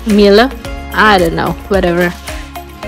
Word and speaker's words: Miele: It's a German name, Miller. Mila, I don't know. I search in Google, and you have to pronounce it Mila.